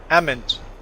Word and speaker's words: almonds: the uh almond orchards they call them almond almonds no ammons almonds um i can't even pronounce i don't even know how they say almond almonds almond almond ahmed i don't know they dig they skip the l of course the rebels